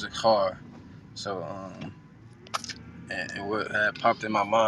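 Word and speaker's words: זכר: mind is a verb, um, which is it's pronounced zakhar.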